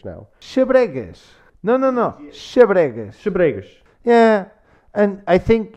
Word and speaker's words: Xabregas: Xabregas. Yeah. And I think it's not very easy. If you were with someone from Coimbra, you would probably learn to pronounce the last S a little bit better.